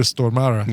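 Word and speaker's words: Stormare: And so whenever we'd bring him up on the show, uh he'd be like, "May make sure Brian you pronounce it as Peter Stormara."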